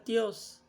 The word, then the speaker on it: Theos: Yung pronunciation dyan, Theos.